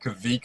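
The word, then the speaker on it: Kveik: I'm going to pronounce it Kvik IPA. I had a really interesting pronunciation of that earlier. It's quite. It should be halfway between a V and a W.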